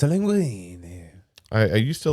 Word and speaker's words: linguine: queenie and you said it wrong it's a linguine i used to like fettuccine with my favorite